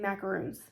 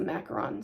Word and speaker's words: macaron: so that's spelled correctly cringle cannot get it right they keep saying macaroons and it's not this is what they picture but this is a macaron so homeworks has it